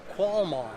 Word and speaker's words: qualmond: It's pronounced qualmond, Q-U-A-L-M-O-N-D.